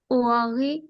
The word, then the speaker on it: au revoir: salut salut, salut salut au revoir au revoir, au revoir au revoir adieu, adieu adieu। Ok. Vous voyez le mot au revoir. Au revoir, you see A-U is pronounced O.